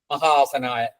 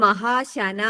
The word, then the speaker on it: മഹാശന: യുഗാവർത്തായ നമ നൈകമായയ നമ മഹാസനായ എന്റെ ബുക്കിലെ മഹാശനാ എന്നാണ് ഒരു മിനിറ്േ ആ മഹാസന തന്നെയാണ് ശരിയാ ശന മഹാശന എന്ന് തന്നെയാണ് രൂപം ശരിയാ മഹാശന മഹാസന അല്ല മഹാശന മഹാ അശനാണ് ശരിയാ ഞാൻ മഹാസന എന്ന്